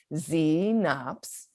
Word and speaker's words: Xenops: let's bust out of xenops for the two-syllable word goes like this hecate packety bumblebee won't you say this word with me zee nops knobs c knobs xenons